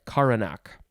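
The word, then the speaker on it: coronach: you say this word i think it's koranak c-o-r-o-n-a-c-h noun from 1530 this is a funeral dirge sung or played on the bagpipes in scotland and ireland another pronunciation would be karanak i'm sure i'm not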